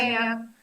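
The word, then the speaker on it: Keimyung: Yeah, Vice President of the Kaemyeong University. Kaemyeong.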